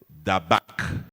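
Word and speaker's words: דבק: Le mot s'attacher, en hébreu, signifie dabak. Comme ça se prononce, D-A-B-A-Q.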